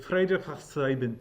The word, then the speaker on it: Friedrich von Steuben: And his was amazing because it's Prussian. It's like Friedrich von Steuben. Like it's okay. like a cool, sweet pronunciation.